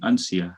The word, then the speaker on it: Uncia: so uh but because ancha is a difficult word to pronounce for most americans and indians so we have sort of standardized it a little bit by saying uncia so it's unique too